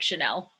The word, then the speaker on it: Channel: You can call me Channel, but it's pronounced like Chanel.